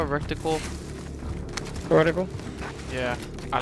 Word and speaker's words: reticle: Rectile or reticle?